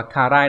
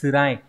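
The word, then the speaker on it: 辛い: Cái này không phải đọc là karai đâu bạn nhé. Karai là vị cay, còn đây là tsurai là đau đớn, khó khăn.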